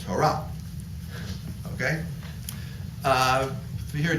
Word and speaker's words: Torah: then you have Torah or if you follow an Ashkenazi emotive pronunciation Ashkenazi all right kind of time deal with that if you follow a European Jewish mode of pronunciation Torah right but the right way to say it is Torah okay uh to